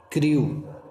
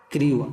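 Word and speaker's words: crew: यू और देखिए इसमें सी एच एस आर एस एच आर के बाद आने वाले ई डब्ल्यू का उच्चारण सा संबंधित उ होता है। जैसे देखिए यहां पर क्रू क्या लिखा है? क्रू आर के बाद ई डब्ल्यू आया तो इसमें उड़ा क्या होगा? क्रू है ना?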